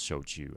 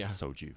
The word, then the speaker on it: shochu: in London is that a lot of people would say would mispronounce showed you as soju right yeah so what